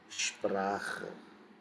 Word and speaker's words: Sprache: So, when S is followed by any consonant, it is going to be pronounced as sh. Example, write down examples. Examples. Let's say Sprache. You see, S is followed by P. It is going to give sound of sh, Sprache.